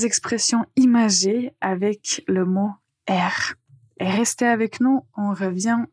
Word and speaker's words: air: Euh juste quand vous prononcez, faites attention à bien prononcer R. Et quand vous utilisez la première expression avoir l'air, le mot R va en fait se prononcer ensemble avec l'article l'air, avoir l'air.